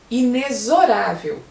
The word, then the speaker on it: inexorável: parêntese ou na barra, você ali deve falar o X com som de Z, inexorável.